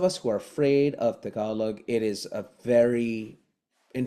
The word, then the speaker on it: Tagalog: T is dentalized as a hybrid T and D. So forever is like forever, and Tagalog is Tagalog, and Philippines is Philippines.